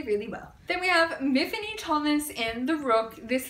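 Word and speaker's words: Myfanwy: very specific in this series that it's actually Miffany, not Mafanwi.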